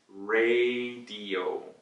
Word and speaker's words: radio: 근데 영어로 얘기할 때 우리 라디오이라고 해요. A 장음 A예요. So A 발음을 살려야 돼요. So ray, radio. So R-A-Y 이라는 말도 있어요. beam 같은 거, beat 같은 거예요. So radio 라고 발음을 하시면 돼요.